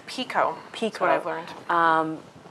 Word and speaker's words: Picoult: play you mentioned Jodi Picoult like if I'm pronouncing it correctly I think it's Chugh: Pico peak is what I've learned.